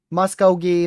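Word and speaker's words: Muskogee: Someone wrote the pronunciations here. Muscogee. Is that not what I was saying? They know what I mean. Muscogi.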